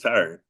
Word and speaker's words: Tyron: My name is Tyron, pronounced like Byron, but everybody call me, so I go by.